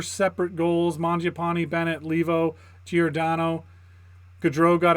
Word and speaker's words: Mangiapane: Like, you didn't hear him being like, "Oh, the pass from Mango Panini.